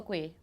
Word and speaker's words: kueh: K for kueh, Yeah.